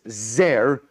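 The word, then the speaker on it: זר: means stranger or alien we vocalize it we pronounce it as zer which means an uh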